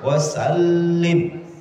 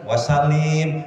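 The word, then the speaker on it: وسلّم: Oh, ini ada lamnya lam, ada musyaddad ya. Wasallim. Jangan dibaca wasalim. Ya tidak salah, tetapi tidak tepat gitu.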